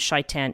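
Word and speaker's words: شيطان: Yeah, shaitan, shin teth nun would be the Hebrew letters, and shaitan is the Arabic pronunciation of that word.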